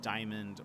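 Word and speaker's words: Dimond: the diamond mall or Diamond Road but it's spelled d-i-m-o-n-d and there's a lot of debate on whether it's uh pronounced diamond or like demand Maybe um most people say diamond I have never heard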